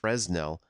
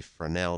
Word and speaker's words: Fresnel: name of a french physicist named Augustin Jean Freneau and that last name is spelled f r e SN e L and you might think that's pronounced Fresno but it's actually from nel because it's French anyway so this French physicist